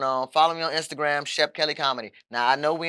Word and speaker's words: Shep Kelly: Now, I know we in New Orleans, so I'm going to spell that out because a lot of people call me Kelly, and I don't cook. It's ShepKelly. Follow me on everything.